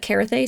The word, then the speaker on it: Carthay: Adventure over on, don't murder me if I'm pronouncing this wrong, but Carthay Circle. Carthay Circle. Wow. Yeah, Carthay yes.